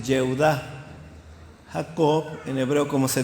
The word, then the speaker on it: Yehudá: Por ejemplo, Judá en hebreo se dice Yehudá.